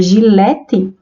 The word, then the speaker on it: gilete: g com som lg mas na palavra gilete urgente tem som de j não são todos os